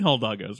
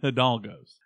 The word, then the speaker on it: Hidalgos: We're not doing Hildalgos. We're not. We're doing Hidalgos.